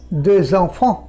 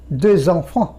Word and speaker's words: deux enfants: Extra ওখানে জয়ের sound দেবে, deux enfants। deux hommes, অমের ক্ষেত্রে হবে deux hommes, deux enfants। 3-এর শেষে এস আছে, এখানেও লিয়েজন হবে, যেরকম trois enfants, এখানেও জয়ের সাউন্ড হবে। এক্সের পর ভাওয়েল এলে, এইচ মিউট এলে যেরকম জয়ের সাউন্ড হয়, এসের পরও হয়।